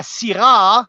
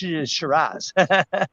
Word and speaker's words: Syrah: And these poor Aussies, with their accent, were never able to pronounce Syrah properly. La Syrah, like the French will always say, La Syrah, but their poor Aussie has turned out into Shiraz.